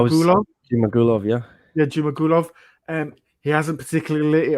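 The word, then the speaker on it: Zhumagulov: and entertaining fights in Jaglas, how do you pronounce the last name? I was Jumagulov? Jimagulov, yeah. Yeah, Jumagulov.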